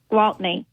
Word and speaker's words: Gwaltney: Gwaltney is how I would say it.